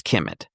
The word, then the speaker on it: Commit: It's pronounced commit according to Rodney. I think it's Kemet, but he says commit.